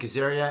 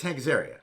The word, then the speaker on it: Azaria: i've just gone insane hi i'm hank azaria and apparently i'm doing the wired auto complete interview so here we go first thing how to pronounce hank's area it's hank's area it's self-explanatory although some people in my family